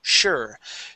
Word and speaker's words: sure: Okay, even that isn't, though that is an S at the beginning, that is pronounced sure.